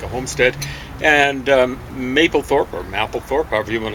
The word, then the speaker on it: Mapplethorpe: And I said it wrong. It's Mapplethorpe. And James explained to me why they said it right. Well, I think so. It just means Mapplethorpe. Doesn't matter how it's spelled.